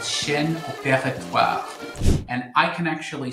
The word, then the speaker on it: Chaîne opératoire: C is for a very fancy French term called Shen Opera.